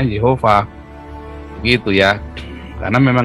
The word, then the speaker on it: Yehova: Oppa Allah kita jadi yang benar itu bacanya yova kalau teolog-teolog Amerika Dia membacanya Yahweh ya Kenapa karena ada transliterasi